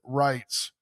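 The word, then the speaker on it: Reitz: German pronunciation. Rights. Yes. R E I T Z. Aaron Wrights.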